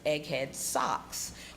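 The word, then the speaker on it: Egghead Soques: a little Egghead so the name of my brand is Egghead socks but it's spelled s-o-q-u-e-s I made it up so people wouldn't think I sold socks but it's basically um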